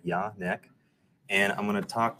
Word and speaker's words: Jan-Paul: But my name is Jan-Paul, pronounced just like it says at the top left there, Jan-Paul.